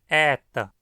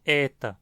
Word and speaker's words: eta: O nome dessa letra é adaptado ao latim como eta, e ela é pronunciada E, com um E aberto e longo. Não é E, nem E, nem E. A pronúncia é E, sempre longo e sempre aberto.